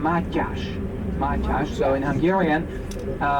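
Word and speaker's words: Mátyás: the name of mathias in hungarian we call him Matt gosh my gosh so in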